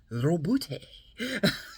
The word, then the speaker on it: Robute: Robute. You gotta roll the R or you're not saying it correctly.